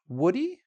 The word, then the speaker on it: would he: Next: "would he" can be pronounced: "wouldee". You're basically cutting off the "h" when you have "he" with the modal in this case. So, repeat after me: "wouldee". Like Woody from Toy Story, say it like that.